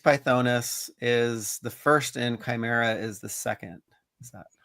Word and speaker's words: Chimera: That I keep mispronouncing the name, Shimara. Chimera. Chimera.